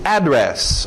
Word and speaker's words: address: Address, ou address também. Duas pronúncias aí para o seu endereço.